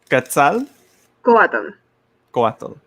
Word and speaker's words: Quetzalcoatl: But it's like you see these archetypal figures, as like Quetzalcoatl, I believe is that's how you pronounce.